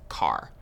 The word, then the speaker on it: char: Chars. So chars are used for variables that will store single characters. Char is short for character. And sometimes you might hear people pronounce it as car.